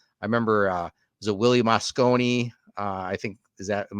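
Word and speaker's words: Mosconi: So I remember was it Willie Moscone?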